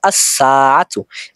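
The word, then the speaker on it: الساعة: আসবে তখন উচ্চারিত হবে আসসাতু এখানে লাম হরফটি উচ্চারণ হবে না কারণ সিনের শুরুতে যদি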